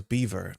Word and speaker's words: Belvoir: I was thrown when I learned that the Brits pronounce Belvoir is beaver.